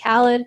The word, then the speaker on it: Khaled: new artist was Khaled actually I think his name might actually be pronounced Khalid where DJ Khaled is pronounced Khaled so keep them separate anyway no he won